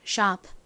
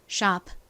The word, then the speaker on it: sharp: 천천히 발음하면 sharp, sharp 이렇게 피 소리가 살짝 들리긴 하지만 보통 빠르게 이야기를 할 때는 잘 들리지 않아요. 그래서 마치 받침처럼 소리가 나게 됩니다. 그래서 sharp, sharp 이렇게 발음이 나요.